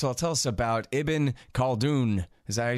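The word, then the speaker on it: Ibn Khaldun: go ahead first of all tell us about eben called oon is that you say his name that is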